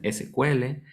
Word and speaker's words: SQL: sql o si cuento normalmente dicen si cuele otros les dicen es que vean el digamos que la pronunciación correcta segundos los técnicos los más técnicos de esto es igual que nos dicen es igual pronunciando las tres letras otros dicen sql es un relajo índice